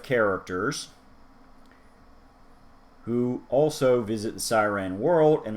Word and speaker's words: Psyren: person to person personality p siren silent p but it's still there the more they spend